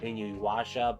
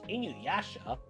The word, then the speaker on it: Inuyasha: I always want to call it Inuyasha, but there are these sticklers that are sticklers on pronunciation, so it's Inuyasha.